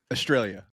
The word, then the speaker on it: Australia: Yeah, thanks for joining us all the way from Australia, right? Yeah, Australia. It's funny. Every time I hear Americans say Australia, I'm like, God, you say Australia like an American. It's Australia.